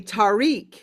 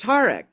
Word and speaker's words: Tariq: name, all of us say Tariq, right? So I had to learn that it's actually pronounced Tariq.